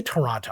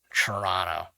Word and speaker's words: Toronto: citizen of canada and we say toronto all the letters are missing basically the way i pronounce it it would be spelled like c-h-u-r-r-o-n-n-o toronto but yes for more